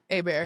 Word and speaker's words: Hebert: that he has etched hieroglyphics in our last name, which is Hebert, which is spelled like Hebert, but it's Yeah. like Hebert. Yeah. It's Yeah. French.